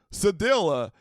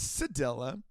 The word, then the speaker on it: cedilla: that got me was I only knew this word from French where it's sad. And so like Sadi and I was like I clicked like the pronunciation button up on the website and whatnot and it was like Sadilla and I was like that doesn't seem that seems pretty Americanized. Are you sure? It's Sadella.